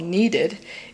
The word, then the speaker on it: kneaded: with a kneaded eraser the reason it's called needed is that's how you clean it so needed is spelled K and e a d e D as opposed to you need a kneaded eraser which would be in E D yeah so you need